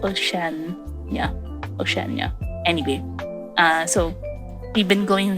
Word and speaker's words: Oceania: How do you pronounce that? Oh, there's an IA, so it's Oceania.